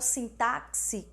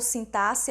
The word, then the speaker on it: sintaxe: análise sintática que nós chamamos de syntaxe da oração ou sim táxi sem táxi ou sintaxe a indiferente essa pronúncia mas o que é